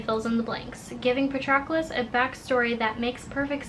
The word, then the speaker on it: Patroclus: I don't know how to say this. Patroclus. Stress on that second syllable. Patroclus.